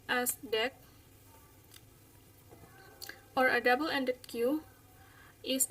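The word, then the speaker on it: deque: Ya, seperti ini dijelaskan a queue pronounced as DEQ or a double-ended queue is a queue-like data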